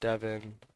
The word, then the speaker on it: Devin: how you spell it so it's just Devon uh spelled like heaven but with a D look at that drop into the Hall level 103.